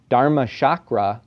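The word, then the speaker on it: Dharmachakra: And you might be familiar with, or I pronounced it incorrectly, Dhamma-chakra, that's the Pali pronunciation. Dharma-chakra is the Sanskrit.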